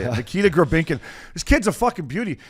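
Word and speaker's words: Nikita Grebenkin: And his name is Nikita Grabinkin. That's how you say it. Nikita Grabinkin.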